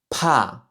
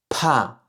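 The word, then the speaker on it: 怕: Ici, ce caractère se prononce "pa" "pa" "pa" qui correspond en fait au caractère de la peur, donc quatrième ton. "pa" "pa". Encore une fois, vérifiez bien que vous expirez de l'air quand vous prononcez ce son-là.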